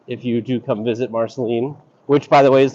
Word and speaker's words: Marceline: and uh visit if you do come visit Marceline which by the way is the proper pronunciation from a local barceline so here's our